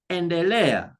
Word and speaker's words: endelea: If I have a name like to continue or to progress, we say endelea. You see? Endelea. You see, where there is the second last syllable, I'm going to put a stress there.